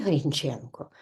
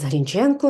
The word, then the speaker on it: Грінченко: граматистка Катерина Григорівна городенська зазначає що це прізвище може мати наголос і на першому і на другому складі Грінченко і Грінченко отже і так і так правильно Борис Грінченко редактор низки українських періодичних